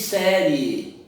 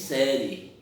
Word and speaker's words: série: Você não diz série, você diz série. Você não pronuncia o I, pronuncia o E.